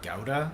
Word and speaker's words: Gouda: Uh we shredded an aged Gouda. Apparently it's gauda, by the way, cuz it comes from Germany and they pronounce it gauda.